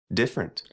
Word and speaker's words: different: immediately after a stressed syllable is sometimes not pronounced mhm average average average yeah different different separate separate after P it don't have